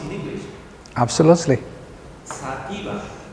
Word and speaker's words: sativa: Sativa in English is sativa. So sativa is a different word.